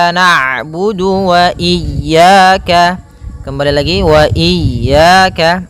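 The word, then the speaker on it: نَعْبُدُ: harakat iyaka iaka naudu kemudian ada huruf Ain yang berharakat sukun ketika huruf Ain berharakat sukun Ain itu punya punya sifat namanya bainiah yaitu bacaan di antara syiddah dan Rah kalau syiddah suaranya tertahan kalau rak suaranya mengalir maka di antara keduanya I naudu iaka kembali lagi Wa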